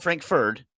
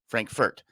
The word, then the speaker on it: Frankfurt: Frankfurt it's something else Frank not Frankford Frankfurt um yeah yeah not